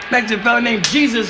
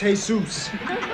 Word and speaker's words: Jesus: Yeah, Indian Joe Roach and a Mexican fella named, Jesus Alveris. Hey, Pop, that's pronounced Jesus.